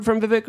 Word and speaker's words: Vivek: Yeah, so we have another super chat by Lane Bold 63 saying Vivek is pronounced like the word cake.